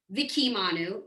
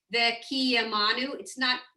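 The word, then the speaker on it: וקיימנו: So here she's saying for Vekiyamanu, you don't say Vikimanu. You have to put it's not a full vowel. It's just you're giving it Vekiyamanu.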